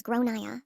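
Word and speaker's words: Gráinne: At this point, the alarm bells are ringing in my head because I've realized that the kid is called Grain, generally pronounced as Gronia or thereabouts.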